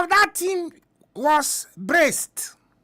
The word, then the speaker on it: Brest: The name of that team was Brest. Bresto. It is spelled B-R-E-S-T, Brest.